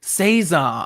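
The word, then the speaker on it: César: Yes, it's Cesar. That French pronunciation was quite good, Calvin.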